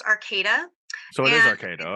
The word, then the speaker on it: Arcata: uh I've oh Arcata California I almost said Arcadia carcata California it's actually pronounced Arcata so it is okay though okay yeah it's Arcata so it's not Arcadia that's in Southern California